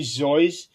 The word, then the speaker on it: Seuss: But if for people who ask him, he would initially say that is actually Zoyce, but he came to accepting both pronunciations, and over time, that's how it became accepted.